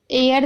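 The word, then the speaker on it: heir: एयर देख रहे हैं, एयर में हम एच को नहीं पढ़ रहे।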